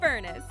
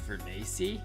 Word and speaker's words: Furness: I'm here with my co-host, none other than the head of Ether Studios himself, Furness. It's actually pronounced Furnacy.